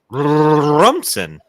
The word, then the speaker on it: Rumson: First off, yes, it's 5 minutes from me, and it's pronounced Rumson.